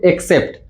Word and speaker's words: except: दोनों में देखिए मैंने उच्चारण भी लिखा हुआ है यहाँ पर देखिए इसे पढ़ेंगे हम लोग एक्सेप्ट, इसे पढ़ेंगे एक्सेप्ट। देखिए स्पेलिंग क्या है, इसका ए से शुरू है और इसका ई से शुरू है, ACCEPT, और यह EXCEPT। देखिए उच्चारण में कैसे दोनों सेम दिख रहे हैं, लेकिन कंफ्यूजन